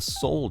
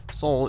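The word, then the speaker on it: Seoul: right next up is the soul chicken it's spelled s e o u l I believe and if you're curious um soul is the capital of uh South Korea so it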